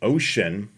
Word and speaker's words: Wouxun: Uh we are talking about GMRS and we're talking about the Ocean. I believe that's the proper way of pronouncing it.